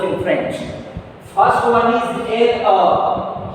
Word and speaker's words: le: So a needs to be pronounced. So we pronounce le.